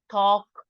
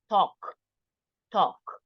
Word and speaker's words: talk: correction pull light and in this case is talk we don't pronounce the L talk talk okay well marlen can